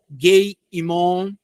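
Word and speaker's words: Gei Hinnom: Gei-Imon, Gei-Imon, na verdade, na pronúncia mais próxima.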